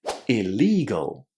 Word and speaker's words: illegal: In general, when the letter I is followed by a double consonant, this letter I is pronounced as a short I. So in here, we're going to say illegal.